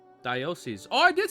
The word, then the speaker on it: diocese: Diocese. Diocese.